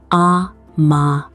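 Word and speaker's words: 甘え: In Japan, there is a concept called Amae, pronounced Amae.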